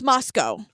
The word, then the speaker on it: Moscow: But it's pronounced like Roscoe the bedbug sniffing dog.